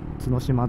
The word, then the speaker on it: 角島: 角島で読み方合ってた。